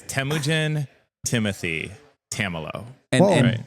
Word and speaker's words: Temujin: Temujin.